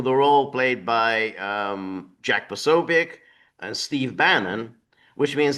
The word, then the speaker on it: Posobiec: and how do you pronounce the guy's name? Jack Posobiec? Posobiec, Same thing.